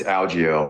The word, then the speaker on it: Algeo: By the way, DC said it like Algeo, and I say Algeo. Which is the correct way to say it? It's Algeo, or if you're my UFC driver, he had a Lego.